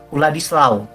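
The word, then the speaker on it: Władysław: v vladislav vladislw ya dibacanya Mah wladislaw kenapa karena ini orang Polandia sebetulnya orang Polandia orang Polandia itu kan huruf w itu dibacanya W aja itu ya bacanya w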